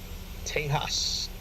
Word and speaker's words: Tejas: Tejas. That's how you pronounce it.